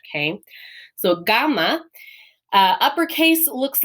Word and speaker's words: gamma: So this is gamma, and gamma is a G sound, and it's a G, a hard G sound. So like in Latin, remember the letter G in Latin is always G. Same thing here. This is not a J sound in Greek.